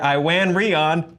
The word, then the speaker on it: Iwan Rheon: The Hollywood Reporter announced that Game of Thrones villain Ramsey Bolton, actor Iwan Rheon, did it, has been cast as one of the original Inhuman villains, Maximus the Mad.